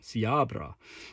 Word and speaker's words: Siabra: with one hand sweet siabra thick and coldly neutral the CR but oh look I pronounced it correctly see our bra siabra a Wanderer is never